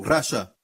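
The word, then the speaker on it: רשע: Na verdade, a pronúncia é um pouco diferente. Tem aqueles pontos que fazem toda a diferença, certo? Ímpio é rachá e condenar é raché.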